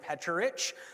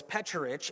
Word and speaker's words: Pecharich: So it's Pecharich, and the CHs are like church.